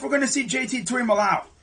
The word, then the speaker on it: Tuimoloau: Tuimoloau. Or Molowau, as I guess that's how you say it. Some people say Tuimoloau. It's, I believe, Tuimoloau. Can't forget that other O, But with that being